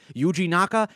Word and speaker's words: Yuji Naka: a sequel to be made by its creators Yuji Naka and Naoto Oshimi.